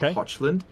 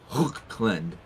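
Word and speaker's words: Hochland: particular elector count position it's not hotland it's like hland you got to spit hland okay well thank you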